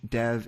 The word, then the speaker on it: Dev: as Dev Patel so once again you're supposed to factor the English pronunciation which I was doing but I was also honoring what Dev himself wants to be called which is Dev so thank you for uh the correct answer if you're a Hindi speaker but in our case it's Dev as it is for Dev as well thank you